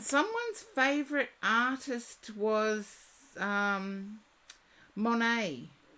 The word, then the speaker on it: Monet: favorite artist was um Monet not a therapist that's okay someone's favorite artist is mon Monet wherever you're from in the world it's pronounced different Dory whatever you are next you love Monae I feel you have